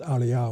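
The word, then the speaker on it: āryā: Here it's written as Arya with a long A at the end, which is unusual.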